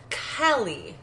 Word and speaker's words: Kali: Instead, she closes her eyes and calls out for someone named Callie, which apparently is spelled Kali, As you do. but it's pronounced Callie, like Callie.